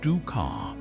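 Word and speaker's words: dukkah: Egyptian ducker. Pronounced duka. This aromatic blend of nuts,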